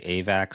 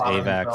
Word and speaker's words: AVAX: quick so I think I've Heard Em and say avac so I'm going to go with the the founder and CEO says avac so avac is the right way to say it as far as I'm concerned all the avox people they they just they're making up a way of saying it to sound fancy definitely sounds fancy but um